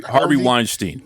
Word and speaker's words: Harvey Weinstein: Listen, help me with the name because I always get this guy's name wrong. Wein Weinstein. Am I correct? Yeah. Harvey Harvey Weinstein.